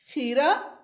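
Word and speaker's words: کھیرا: खीरा, ख के नीचे ज़ेर है।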